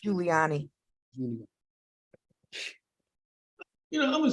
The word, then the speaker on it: Giuliani: Giuliano, not Giuliano. I mispronounced. Giuliani.